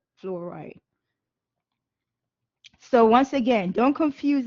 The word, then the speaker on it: fluoride: It's pronounced, fluoride.